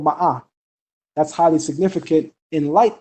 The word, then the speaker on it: Ma'at: But the original way to pronounce Ma'at is actually Ma'ah. It's not Ma'at.